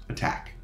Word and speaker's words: ATT&CK: resembles an a so the acronym can be pronounced attack common knowledge is the documented use of tactics